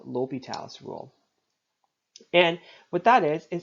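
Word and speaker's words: L'Hôpital: talk about something called L'Hopital's rule. Okay, one of my favorite calculus professors in university called it the hospital rule. Okay, it's spelled the same.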